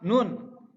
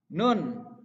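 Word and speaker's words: ن: Nun. Nah, untuk pelafalannya harus jelas. Nun. Lidah di bagian atas. Mau ke gigi seri. Nun. Nun. Nun. Pantulkan.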